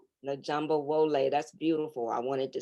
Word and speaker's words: Efunbolade: amen how do you say your name isn't jumbo lay the jumbo wole that's beautiful i wanted to say it right